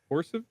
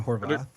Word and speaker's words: Horvath: Uh, directed by Aaron, uh, Harit, nope, horses, Aaron Horvath.